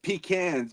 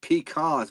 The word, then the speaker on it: pecan: I love how you said pecans because people up north pronounce it peacons, which is completely wrong.